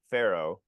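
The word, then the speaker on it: F.HERO: It's a band, and apparently you say it as Pharaoh for F Hero.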